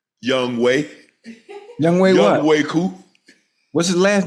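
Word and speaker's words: Younghoe Koo: It's spelled, y'all know how it's spelled. What's his name? Young Way. Young Way what? Young Way-Koo.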